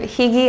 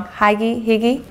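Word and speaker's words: hygge: relax in practice have you ever heard of Higgy I'm saying it wrong hi Giggy so this is a European tradition you look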